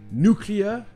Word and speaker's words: nuclear: ça s'est répandu mais la prononciation que vous trouvez tout le temps et qu'il faut utiliser si vous voulez pas qu'on vous regardent bizarrement c'est nos clients ou en anglais britannique